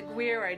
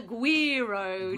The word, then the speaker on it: güiro: doesn't have quite the same effect that the güiro does. So different instruments for different things. What's this called? It's called the güiro, Julie. Güiro.